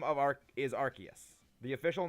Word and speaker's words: Arceus: it is the official name of our is arceus the official name is arceus and the reason why they changed it because one sounds like a slurring british the arkoose thing is just a meme people came up